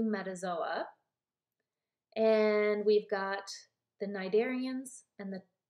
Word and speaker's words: cnidarians: and we've got the cnidarians and the cnidarians and the tena fours the C is silent and both of these